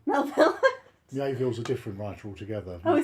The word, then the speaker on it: Melville: Melville.